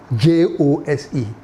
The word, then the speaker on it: Jose: you know, you know the Puerto Ricans and the Spanish people, they don't pronounce J.